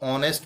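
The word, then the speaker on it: honest: एंड ऑनेस्ट ब्वॉय तो ऑनेस्ट में देखिए आप शुरुआत तो इसकी व्यंजन से शुरू हो रहा है लेकिन इसमें ऐड साइलेंट है और ऑनेस्ट यानि ओए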